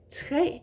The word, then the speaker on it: tre: When it's like that, when it means a tree, we would say tre. The pronunciation is exactly the same as the number 3, but when we put the tree, tre, together with other words, it becomes tra.